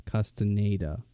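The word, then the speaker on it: Castañeda: Hey everyone, this is me coming back in real quick just to say that I figured out the pronunciation. It's Castaneda, so I was very off.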